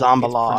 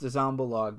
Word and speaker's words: Zombaluge: It's Zombalog. pronounced Zombalog, but spelled Zombaluge.